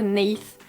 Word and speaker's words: Neith: regardais en français, donc Néis, et j'ai appris par la suite que la déesse, ça s'écrit avec un TH, donc en anglais ce serait plutôt Neith, enfin le fameux TH là, voilà, bref.